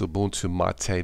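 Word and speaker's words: Ubuntu MATE: Cola boon to mate or it's pronounced a boon to Ma Tei this is still a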